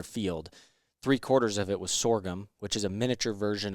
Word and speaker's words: sorghum: time laying in there you think it's pronounced saour gum no sorghum sorgum is that what you've